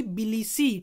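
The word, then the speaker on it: Tbilisi: be option number b billy c t is silent so billis is the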